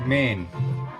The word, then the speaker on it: mein: on it it's also it's pronounced main like like chow mein now look at